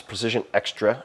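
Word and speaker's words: Precision Xtra: Precision Extra, X-T-R-A, is how you say it.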